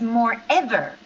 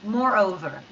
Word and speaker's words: moreover: I I hear your pronunciation is more ever, but actually it's over. So, we say more and over, like two words, moreover, okay?